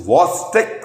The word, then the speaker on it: Chvostek: Friends, it is not Chvostek, it is CH is silent, it is Chvostek sign.